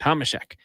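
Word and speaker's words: Tomášek: I was listening to how Laddie Schmid was saying it because I want to use the Czech pronunciation. Get it from the source. Tomaszek.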